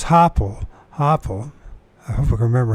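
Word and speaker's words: Hoppál: Hopel, let's see if I pronounce his name right. Hoppel. So it's Hoppel.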